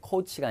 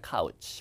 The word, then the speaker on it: couch: 발음 조심하세요. 코치가 아니라 카우치.